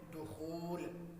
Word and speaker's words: دخول: سے پہلا لفظ ہے دخول۔ تو یہ فعول کے وزن پر دخول لفظ ہے، دخول نہیں ہے۔